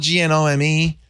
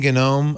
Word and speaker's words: gnome: I'm gonna you know it's spelled g-n-o-m-e it's from the gnu people gnu I've been saying ganome I've heard people say what do you say chat room no more gnome Aunt what do you say gnome and says gnome what do you say gnome like Alaskan okay we're gonna say gnome I like they've been